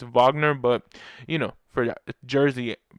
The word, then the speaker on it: Wagner: Wagner because he and his name's not Wagner it's Vagner but you know for